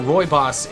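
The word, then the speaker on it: Rooibos: instead of roibos if you didn't know roibos is a type of tea and yes it is pronounced like that poltergeist polti geist gets poltergeist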